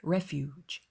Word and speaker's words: refuge: 그리고 발음이 refugee 해서 뒤에가 더 깁니다. refuge, 강세가 앞쪽에 있죠?